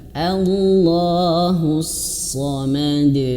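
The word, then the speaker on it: اللَّهُ الصَّمَدُ: Allahus samad, hus-samad, dan kemudian shadnya tebalkan ya, karena memang sejatinya huruf shad itu tebal ya.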